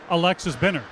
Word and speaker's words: Alexis Binner: I asked him yesterday, I said, you know, Alexis Binner, how do you pronounce that in Swedish? And he said, Alexis Binner.